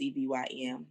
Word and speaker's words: Sevyn: So when you put in 87, it's not spelled the regular way. It's Sevyn.